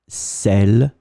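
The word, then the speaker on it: celles: as usually in French this final s is not pronounced here so it will be exactly the same pronunciation for the singular feminine cell and the plural feminine cell so let's take now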